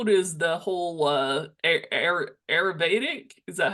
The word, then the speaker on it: Ayurvedic: How does the whole Ayurvedic, is that how you say it?